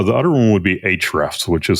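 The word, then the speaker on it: Ahrefs: Uh, the other one would be Hrefs, which is spelled ah R E Fs, and that is going to allow you to do backlink audits.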